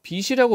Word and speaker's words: 빛이: 이걸 이거를 빛이라고 발음했어. 자, 얘는 발음을 어떻게 돼요? 빛이라고 발음해야 돼요. 빛이. 요렇게 발음하는 것을 연음이라고 해요.